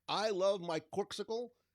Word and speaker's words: Corkcicle: like i love my corksicle corkicle corksicle i think it's corksicle that's how i've been pronouncing it it's my new favorite